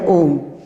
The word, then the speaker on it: ओम: लिखने की दृष्टि से गलत है और शुद्ध उच्चारण इसका यही है ओम।